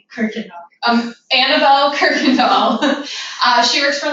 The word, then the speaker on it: Kuykendall: Kuykendall.